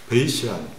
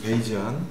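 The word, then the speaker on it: Bayesian: 그래서 이제 조건부 확률은 베이시안 또는 베이지안 확률이라고 부릅니다. 그래서 뭐 바에스라는 양반이 만들었고요. 뒤에 S를 Z로 발음을 하느냐, S로 발음을 하느냐, 뭐 나라마다 달라서 뭐 베이지안 또는 베이시안이라고 부르고 있고요.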